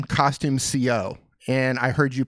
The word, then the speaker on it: Costume Co: I don't know where I even heard you, but it's Costume Co. is how you pronounce it. So I just feel like a dummy. I've been pronouncing it CO all these years.